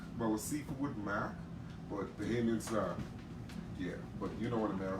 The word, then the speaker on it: Bahamian: Yes, Bahamian. said Bahamian. So Bahay, like hey. Yeah, Bahamian. Bahay.